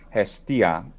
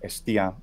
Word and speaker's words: Hestia: Vesta westa classical pronunciation Hestia Hestia estia which is the classical uh Greek pronunciation and it would just be pronounced estia in a modern Greek pronunciation they just take off the uh the aspiration and they don't have